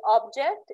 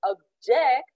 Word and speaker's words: object: plane arrives okay uh object is something that has a shape and can be felt or seen if we use it as a noun but if we pronounce it object it's a verb and it's spread and